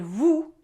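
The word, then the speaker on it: vous: way to say you so we have tu is informal and vu is formal and note and sounds they're different so it's not too and or you know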